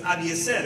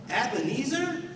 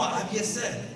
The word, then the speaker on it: Abiezer: My first name is Abiezer, and when I say that, they're like, what? Ebenezer? Abiezer? No, Abiezer. What? A blazer?